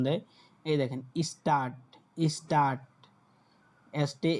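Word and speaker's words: Stadt: তারপর দেখেন ডেটে, তখন ডেটে যখন একসাথে থাকে তখন টয়ের মতো উচ্চারণ দেয়। এই দেখেন স্টার্ট।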